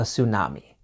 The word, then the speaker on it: tsunami: there to be a tsunami you've probably noticed that the T at the beginning is silent tsunami current events weather topics